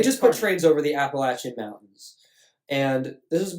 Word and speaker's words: Appalachian: I don't like the way you pronounced that, but I'll let it. Appalachian. Appalachian.